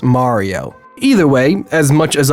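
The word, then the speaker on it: Mirio: characters like Tamaki and Miorio. I'm kidding, God, I got over 1,000 comments in my last video correcting me. I'm sorry, I know it's actually pronounced Mario.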